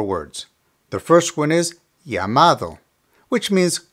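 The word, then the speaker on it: llamado: over two more words the first one is yamad which means called remember the dou L in Spanish is pronounced like the English y so here we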